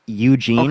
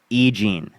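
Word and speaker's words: E. Jean: that what you're saying it's not that you don't know how to pronounce her name it's that you thought her name was Eugene okay what's her name egene egene okay was I that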